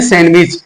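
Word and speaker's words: sandwich: ऐसे ही जो है सैंडविच लिखा होता है लेकिन प्रोनाउंस जो है हम करते हैं सैंडविच मिलते हैं फिर नेक्स्ट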